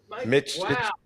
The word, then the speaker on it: Mytych: He just changed his name and you got it almost right. He didn't have any clue how to say it, and he figured it out phonetically, and that's why I changed it slightly. It only took me 25 years to find this out. Well, because that's, I was saying it the way you say it when you met me,